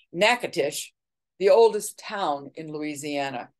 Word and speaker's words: Natchitoches: at Melrose Plantation and that's Natchitoches which is she pronounced it nakatish the oldest town in Louisiana and that was established in 1714.